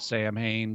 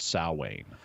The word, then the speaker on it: Samhain: the Celtic Feast of samhaine salwain I know it's spelled Sam Hayne but it's pronounced salwain oh all right it freaks me out that